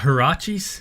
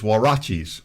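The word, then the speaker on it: huaraches: that's hard to pronounce is it not harachi's no it's warachi's is the right way to say this it looks like karachi's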